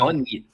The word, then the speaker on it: bunyip: Bunyip. Okay, the bunyip, it's spelled Bunyip.